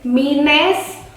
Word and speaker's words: minestrone: kita bilangnya mungkin minestrone. Mungkin. But the correct one is Minestrone.